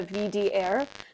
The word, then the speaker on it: WDR: Um but you might also hear people refer to it as the VDair, which is how you say WDR with a German accent.